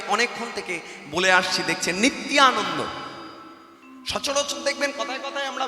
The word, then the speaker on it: নিত্যানন্দ: তাহলে যেখানে অন্তস্তিয়াযুক্ত, যারা বাংলায় অনার্স করেছেন আপনারা জানেন, অন্তস্তিয়াযুক্ত যদি হয়, এখানে নিত্যানন্দ আর উচ্চারণ হবার নয়। এই জায়গাটায় বলতে হবে নিত্যানন্দ।